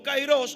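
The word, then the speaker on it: Kairos: Algunos pronuncian como Cairos, otros como Cairo.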